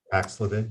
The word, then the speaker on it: Paxlovid: I just was reading an article on the Paxlovid. I'm not sure if I'm pronouncing it correctly. Paxlovid, yes.